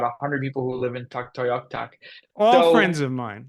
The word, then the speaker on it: Tuktoyaktuk: Well, first of all, I have to commend you on your pronunciation of the city.